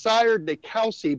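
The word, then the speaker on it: Sire de Coucy: It's pronounced Sire de Couchy, but say it however you wish.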